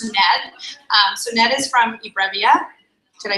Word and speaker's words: eBrevia: So Ned is from eBrevia.